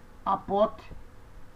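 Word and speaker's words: ἀποθνῄσκω: Como é que eu pronuncio nessa palavra o teta? Você faz um som do T mudo. Então você diz apote, nes, co, kappa, ômega, co. Então você diz apotnesco.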